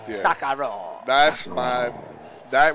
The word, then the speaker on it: Sekiro: play, not Devil May Cry, Sekiro, how you pronounce it? Oh, Sekiro. Yeah. Sakaro.